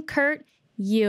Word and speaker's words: Kurt Yue: the king of youtube welcome kurt you uh did i say it right you did thank you thanks for